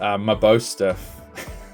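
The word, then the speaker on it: Mabosstiff: I actually had to look up how to say that because I kept butchering it when um I got the SIR. It's Mabo Stiff. It's such an interesting like way of saying like an interesting name phonetically. Um I kept butchering it so I actually looked it up and uh yeah, that's how you say it.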